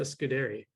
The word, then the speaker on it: Scudiere: Yeah, I tell people it's Scud like a Scud missile, Scud. And dairy like the farm. Scudiere. Yeah. So I've been saying Scudiere. You know, it's very Italian, like Scudiere.